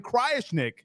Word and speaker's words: Krajisnik: Just slap me around if I mispronounced your name right, but Cryishnik, is that right? You know, you wouldn't believe me if I told you you got the last name right, but the first name you got right